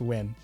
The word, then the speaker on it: Wynn: It's pronounced Wynn. It's pronounced win.